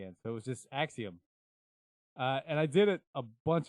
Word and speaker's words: Axioma: however fucking long we've been around, still can't pronounce it right. So it is what it is. Axioma.